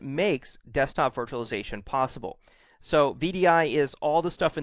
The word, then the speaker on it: VDI: what it stands for vdi is pronounced as an initialism not as a word so it's vdi it's not vidy um most people consider